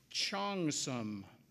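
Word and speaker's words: cheongsam: here we go level the next word is chongsum it's a noun and it means a Chinese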